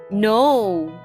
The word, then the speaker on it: know: uses a knife to slice the meat no k n o w let's spell that again k n o w no